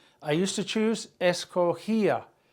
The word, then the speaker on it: escogía: I used to choose, escogía, GIA, accent on the I.